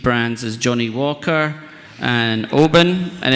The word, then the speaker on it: Oban: on such boutique brands as Johnny Walker and Oban and it's it's pronounced open for 95% of the room who don't pronounce